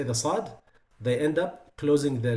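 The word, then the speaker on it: صاد: Don't use your lips to say the sad. Say as, as. But also you have to focus on the isti'la and the itbaq, the elevation and the closure. It has to be heavy.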